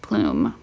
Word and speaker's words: plume: a long u and it's a silent E that a silent plume that's why it's only one even though you see two vowels you only hear one you only hear plume e is silent so it doesn't get its own syllable um same with so